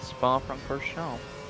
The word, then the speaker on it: Spa-Francorchamps: Earlier than he would have crossed the finish line after 44 laps at Spa-Francorchamps. I don't think you say the ps.